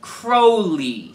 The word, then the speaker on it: Crowley: And it's pronounced Crowley, like the bird, not ow, like in ouch.